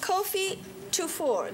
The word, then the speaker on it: Kofi Tufor: This amazing gentleman, Kofi Tufor.